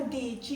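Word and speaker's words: dieci: अब ये प्रोनाउंस ध्यान से याद रखना। दीची, ये क्या बन गया? दीची।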